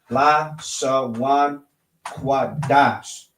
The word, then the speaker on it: Lashawan Qadash: read English, all right, this is how you would pronounce it. Lashawan Qadash.